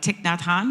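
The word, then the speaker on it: Thich Nhat Hanh: years and I had no idea how to pronounce his name and if I've got it right it's uh tikn Natan is that correct correct that's correct that that's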